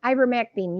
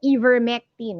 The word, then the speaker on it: ivermectin: okay and then um ivermectin yes that's how to pronounce it hindi vermectin okay ivor para since you